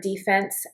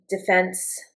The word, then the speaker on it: defense: The defense is still a noun. Interesting. Defense, defense. I think you can pronounce it both ways, but in the sports context, it's always defense.